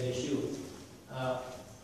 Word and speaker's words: Yeshua: Okay, so that basically is what that document says, but it gives you tons of scriptural references that prove why we pronounce it as Yeshua.